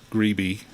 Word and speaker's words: Grebe: it but apparently uh alfred greeby in insisted on people pronouncing it in that way i suspect that it's a an americanization of what originally might have been a french name pronounced grab or something like that uh in